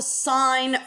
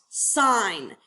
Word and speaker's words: sine: we talk about the sine function the sine ratio and okay it is abbreviated s i n it is not pronounced sin it's pronounced sine guys this is just